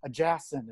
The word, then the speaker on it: Ajasin: And I've got Ajasin. Is that how you say it? Yes, it is. Yes, Ajasin.